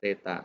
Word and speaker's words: theta: Bacanya theta.